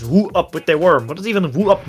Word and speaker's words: Who up with they worm: I mean, I also made a team name which is easy to mispronounce because you say what's up with the worm, but it's Woo Up With The Worm.